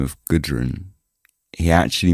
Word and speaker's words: Gudrun: He pronounced it as like Gaiden or something rather than Gudrun.